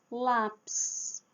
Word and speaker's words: lápis: Lápis. Marca tônica na letra a.